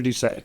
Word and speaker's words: Doucet: And I pronounced your name wrong. I apologize. Duchesne. Duchesne, yeah.